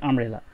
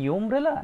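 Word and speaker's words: umbrella: দেখো, আচ্ছা আমরা যদি এই শব্দটা দেখি, যে UMBRELL, এই আমব্রেলা। আচ্ছা বলো তো এটা কি ইউমব্রেলা নাকি আমব্রেলা?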